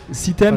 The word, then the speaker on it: Cithem: Citem, ça s'écrit CITHEM, M et après festival.